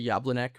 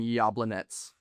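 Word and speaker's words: Jablonec: Uh Rangers and uh Yablanets um used to say Yableneck, but I'm on a my my arc for this season is to uh pronounce everything accurately. That's my season arc. So I'm now saying Yablanets.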